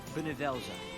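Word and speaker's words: Bhunivelze: It will be called Benevelza. Benevelza. I need to like remember how to pronounce that every time. Benevelza. Benevelza. So it's like bun.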